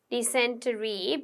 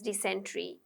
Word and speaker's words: dysentery: Okay, if you want, Americans also say dysentery, but British say it as dysentery.